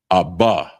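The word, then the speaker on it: אבא: So uh father is aba aba and it's spelled a h ba and that's father aba and a h ba.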